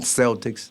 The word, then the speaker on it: Celtic: Celtic polytheism Celtic see we say Bal Boston Celtics no the proper pronunciation is Celtic polytheism yeah that's a form